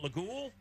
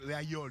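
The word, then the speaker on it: Laguiole: Is it Lagoule? Layol. Layol? Yes, No, I've never heard anybody say no, that. you pronounce it Layol. You don't say the J on it.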